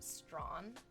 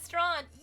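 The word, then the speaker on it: Strachan: CS is your username pronounced Strawn like the street in Toronto. Did I get it? Are you in love with me now? It's called It's Strawn, right?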